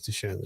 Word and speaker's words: Duchenne: It's nothing like, until you told me about Duchenne's. Am I saying it right? It is Duchenne's, right?